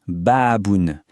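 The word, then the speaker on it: بابٌ: Ça se prononce baaboun.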